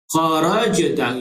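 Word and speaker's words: خَرَجْتَ: Kharajta, jumpa sekali lagi jim yang mati. Jim yang mati ialah qalqalah, huruf qalqalah. Cara bacaannya ialah kharajta. Ada ekor, punya ekor sikit kat belakang tu.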